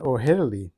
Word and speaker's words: O'Herlihy: This is a 1954 film version of the famous survival story by Daniel Defoe and stars Dan O'Herlihy, I think that's how you pronounce it, as Crusoe and Jamie Fernandez as Friday.